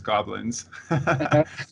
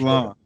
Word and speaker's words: Gobelins: You said you went to, I always mispronounce this school. In my mind, it's Gobelins, because that's how it's written. But Gobelins, is that Gobelins. close? French. Gobelins.